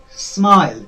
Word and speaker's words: smile: uh for example uh if we say smile smile there are two vowels i and e at the end of it okay but only i is pronounced here okay only i is giving it sound smile i it is